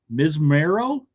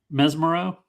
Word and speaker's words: Mesmero: Msero. Is that how you say his name? Mesmero.